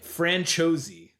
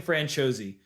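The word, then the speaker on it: Franciosi: But I Googled it and it's pronounced Ashling Francos. So Ashling Franchos.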